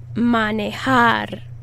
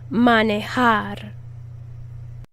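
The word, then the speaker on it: manejar: is means to drive repeat after me manehar that emphasis is on the last syllable manihar let's conjugate the verb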